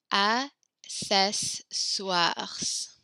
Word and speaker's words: accessoires: Les accessoires. You can do pronounce that R at the end.